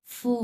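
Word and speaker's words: 父母: ফুমু। ফুমো হুম ফুমু, এই মুটা কিন্তু ফুল থার্ড উচ্চারণ হবে, ফুমু।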